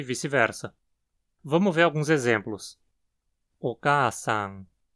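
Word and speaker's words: お母さん: Oka-san. O acento está na segunda mora, K, que precisa ser pronunciada com uma frequência alta, logo depois da qual a frequência cai. Oka-san.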